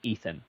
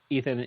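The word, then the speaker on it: Eithan: But then along the way, he meets a guy named his it's spelled E I T Han. We're just gonna call him Ethan because that feels cooler than Ethan.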